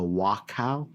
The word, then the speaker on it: Wachau: Katja Scharnagl hails from the Wachau, is that how I pronounce it?